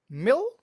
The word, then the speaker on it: male: But the correct pronunciation of this coro in English is male. Mel male mel. It's male. It's similar to to say for example dinner a a meal. A meal.